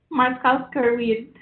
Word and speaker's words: Markowska-Reed: Markowska-Reed. Yes, it's spelled exactly how it sounds.